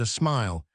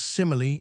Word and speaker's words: simile: Most ladies in reading call this word a smile, but they are to note, it consists of 3 syllables. Simile, in English, a likeness.